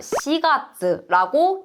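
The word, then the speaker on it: 四月: 좋은데, 예를 들어서 우리가 4월이라고 할 땐 뭐라고 읽냐면 시가츠라고 읽게 돼요.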